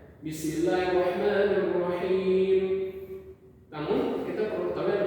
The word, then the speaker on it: بسم الله الرحمن الرحيم: lantang, yaitu seperti Bismillahirrahmanirrahim, ditekankan pada huruf yang dimana orang itu membacanya salah, seperti di ha tipis ini. Kita harus menekankan di situ Bismillahirrahmanirrahim. Apabila salah di panjangnya atau di harokatnya, maka kita bisa lagi-lagi mendemonstrasikan atau menekankan di kesalahannya Bismillahirrahmanirrahim.